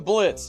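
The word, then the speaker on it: Blitzø: oh me well I'm Blitz the O is silent if you needed to know Blitz responded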